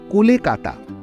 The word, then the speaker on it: কলকাতা: 1590 সালে রচিত আবুল ফাজলের আইনি আকবরী গ্রন্থে উদ্ধৃত এই তালিকাটিতে কলিকাতা গ্রামটির উল্লেখ রয়েছে। অনেক গবেষকের মতে আবুল ফজলের লেখা কথাটার উচ্চারণটা কলকাতা নয় কোলেকাটা। আবার কলিকাটাও হতে পারে।